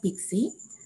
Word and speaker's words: PKCE: for code exchange so we can pronounce it as pixi so in this following